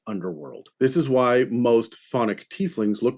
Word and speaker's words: chthonic: And yes, this is pronounced chthonic. The CH is silent.